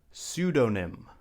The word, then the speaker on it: pseudonym: Next up, we have the word pseudonym.